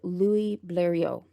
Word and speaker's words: Blériot: It does not sound anything like it's spelled, so I am going to try my very best. She met with Louis Blériot, and he's spelled Bleriot. I tried the best that I could, but yeah, it doesn't really sound exactly as it's spelled here. But I know in French the sounds would be a little different.